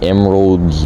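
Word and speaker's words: Emeril: It is the Emerald's bread maker, and it's not spelled like emerald.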